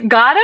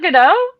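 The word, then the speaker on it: Godot: Wait, it's God, not GAD.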